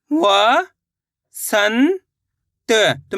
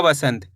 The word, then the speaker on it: वसंत: इसका उच्चारण आधा न के रूप में भी निकलेगा, आधा मा के रूप में भी। यह देखना है ख पे आधा न पढ़ना है। ख पे आधा म पढ़ना है। तो, सिंपल सा तरीका है। आधा न के रूप में इसका उच्चारण करेंगे वसंत।